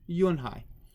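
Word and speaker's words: Unhei: joey she nodded slowly yes it's pronounced junhai and it means grace mr kim added yonhai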